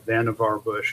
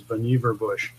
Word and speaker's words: Vannevar Bush: name is pronounced strangely people usually call him Vannevar bush because that's how it's pronounced phonetically but his actual pronunciation of his name is boniva bush and i believe he